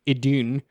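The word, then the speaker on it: Idunn: a Divine Dragon named idun um it's literally spelled like i-d-u-n-n like I done um the ancient dragons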